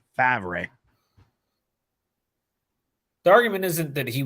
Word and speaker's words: Favre: that Brett farvis or let's say it properly fabre the argument isn't that